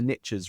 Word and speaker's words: niche: riches are in the niches, right? We pronounce it niche in the UK, so it really falls apart when you say it here because everybody just laughs at you.